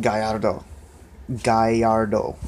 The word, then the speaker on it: Gallardo: guys is the Lamborghini Gallardo's and it's not pronounced Gallardo it's pronounced guy a little guy yard oh it's it's a bit Spanish or Italian the